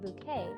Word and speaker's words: Bucket: Up Appearances where hin bucket pronounced bouquet runs out onto the